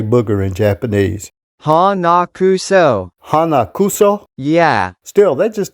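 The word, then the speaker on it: 鼻くそ: Hanakuso.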